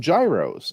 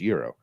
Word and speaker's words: gyros: guys I got some Gyros and they said you know it's it's pronounced Euro if people keep correcting